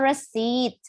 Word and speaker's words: receipt: Oh, kalau receipt. Kalau receipt itu bacanya bukan resip ya.